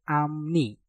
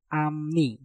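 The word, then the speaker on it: 앞니: Maka piupnya kita rubah menjadi suara mieum. Maka menjadi amni, amni, amni, amni.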